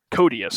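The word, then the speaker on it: Koteas: Hogue and Elias Coats. Is that how you pronounce it? You're kind of a fan of his, aren't you? The guy that played Casey Jones. Codius.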